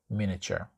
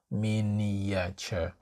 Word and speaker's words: miniature: time you can say miniature now the pronunciation of this word is a bit tricky it's not Minature it's miniature Min miniature miniature miniature and the